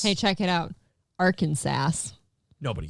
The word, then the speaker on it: Arkansas: I go, are we supposed to pronounce the S? Hey, check it out. Arkansas.